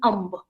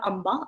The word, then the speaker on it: amb: Hindustanis pronounce the B in its name as though no vowel followed. For example, amb, not amba, amba.